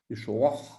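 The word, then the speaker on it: ישוע: on dit Yeshua, Yeshua, avec un A sémite, intraduisible en grec. Yeshua. Voilà. Yeshua. Yeshua. C'est vraiment, il faut être un arabe ou un juif pour savoir prononcer parce que ça vient de la gorge.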